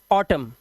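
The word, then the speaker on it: autumn: Silent, column, N silent, और ऑटम silent क्या है हमारा, एन यहां पर साइलेंट है।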